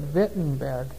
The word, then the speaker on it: Wittenberg: Wittenberg there in Germany they'd pronounced that vent in bed and he nailed these